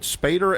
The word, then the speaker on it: Spaeder: Okay, he's an attorney and a partner with Zuckerman, and is it Spaeder LLP? Is that right? Yes, it is. Good pronunciation.